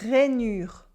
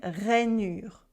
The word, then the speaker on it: rainure: It is une rainure. Une rainure. We have a vowel after the un, so it changes the nasal sound.